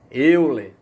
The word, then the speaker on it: Euler: por exemplo o matemático suíço eu lê tá a pronúncia correta aí seria olha ele representou a